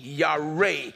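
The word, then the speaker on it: yare: it for you the the hebrew word for fear y-a-r-e ya-ray it literally means to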